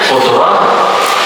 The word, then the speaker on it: qudrah: Padahal bacaannya qudrah, iradah. Pakai ta apa? Ta hikam. Bacanya apa? Kudrat ya. Iradat. Taknya tauknya sama enggak? Nah, dalam ilmu tajwid ujar orang tajwid salah. Apabila tak marbutah dibaca ha.